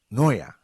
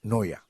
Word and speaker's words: Neuer: Pues, y entonces me dijeron ellos, mire, Neuer, así, y yo, pero es que nosotros le hemos dicho Neuer, y hasta Neuer, en fin, pero al final ellos me decían con mucha risa, me decían, no, se pronuncia Neuer.